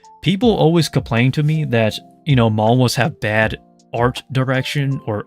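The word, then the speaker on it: 만화: So anytime you see a Korean manga, they call it manhwa. The reason why is because in Korea, the pronunciation for manga is more as manhwa.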